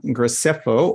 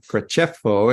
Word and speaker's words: Graceffo: So I'd like to introduce our first speaker today, Antonio Graceffo, or Graceffo, if you prefer the Italian pronunciation, has spent more than 20 years in Asia, and he earned a PhD at Shanghai University of Sport.